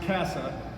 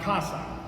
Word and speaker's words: CASA: And although some of you may have no idea what a CASA is, and yes, it is pronounced CASA, not CASA.